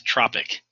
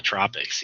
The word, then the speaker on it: tropic: Now I know when you look at that word you want to pronounce it as tropic. Like that's where we should be in the tropics.